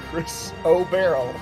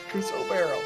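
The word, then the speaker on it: chrysoberyl: Crystal Barrel so it's Chris obero Chris obero Chris o barrel all right it's like barrel of monkeys but yeah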